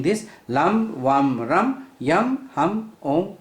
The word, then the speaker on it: LAM: So when you look at Muladhara chakra, its mantra is LAM, L-A-M. So you have to pronounce it like this, LAM.